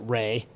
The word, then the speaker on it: Rhea: We pronounce it Ray, R-H-E-A, so it's spelled like Rhea, but technically it's supposed to be pronounced like that.